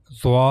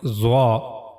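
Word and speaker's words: ظ: Now the origin of zah the origin of letter zah is top of the tip of tongue this part of the tongue and it will connect to the edges of the two top front teeth here.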